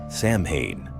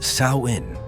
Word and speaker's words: Samhain: Sam Hayne. That's how I always said it until I talked to someone who actually knew and they corrected me. It's pronounced sawin. Rhymes with cowin.